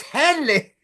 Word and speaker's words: Hedley: he just said it Hy Henley it's Henley get all pissed off when people say his name wrong I